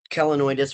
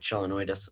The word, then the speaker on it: Chelonoidis: go through um uh the kelenoidis or chelanoidis, however you want to pronounce it. Um I personally pronounce it like chelanoidis.